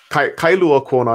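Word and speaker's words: Kailua-Kona: And now you're on the Big Island, and how do you pronounce it? Kailua Kona is the main city on the west side of the island.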